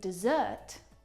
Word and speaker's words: dessert: In desert, the stressed syllable is the first syllable. In dessert, the second syllable is the stressed syllable.